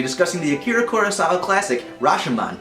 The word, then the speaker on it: Rashomon: Join us next week on Miten on Movies when we'll be discussing the Akira Kurosawa classic Rashomon, or in its original pronunciation, Rashomon!